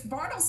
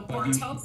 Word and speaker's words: Bartles: No, because Bartles is actually a correct pronunciation of the name. So Bartels and Bartles are correct pronunciations.